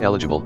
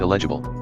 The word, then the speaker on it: eligible: your full name it's pronounced eligible not elgible bot thank you eligible